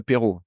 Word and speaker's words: aperitif: every day for the apero. You say apero in a, or aperitif, how do you say it when you want it? Apparitif. Apparitif.